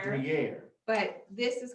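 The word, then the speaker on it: Gruyère: I haven't had how do you say The cheese is Gruyere, Gruyere.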